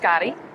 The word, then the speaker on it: Gayde: It's Gayde, pronounced Gotti.